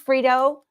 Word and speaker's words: Frito: This is Frito. I say it with a D, but it sounds like or spelled with a T.